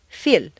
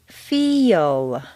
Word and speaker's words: feel: a word like feel if you say just the letters that you see it will sound more like phil or phil you need to say feel is that really a